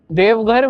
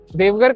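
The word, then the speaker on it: Deoghar: पता चल रहा होगा नाम में ही देव है लेकिन इसको इसका spelling D ई ओ जी एच ए आर है शायद ऐसा क्यों इसका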